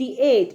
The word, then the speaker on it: eight: EIGHT एट, इसका GH जो है वो साइलेंट हो जाता है।